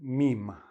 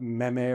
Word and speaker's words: meme: A meme - the pronunciation meme, not meh meh or mi mi or whatever, meme.